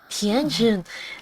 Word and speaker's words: Xianyun: Xianyun. La X se pronuncia como una T, ese sí no sabía.